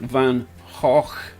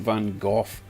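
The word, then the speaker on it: Van Gogh: pronounce it Vincent van it's not Vincent Van goof or Vincent Van go it's Vincent Van HW correct if I'm wrong but uh I think that's how you pronounce that guy's name cheers everyone so Glenn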